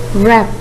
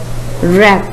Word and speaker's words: wrap: knife the silent litter is clear third word wrap wrap the silent details w the next word what